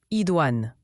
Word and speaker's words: idoine: Idouan se prononce Idouan.